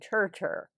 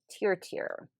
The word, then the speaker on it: Tier: I was saying Tur, but Tier.